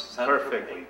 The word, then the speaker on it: Saint-Tropez: Did I pronounce Saint-Tropez?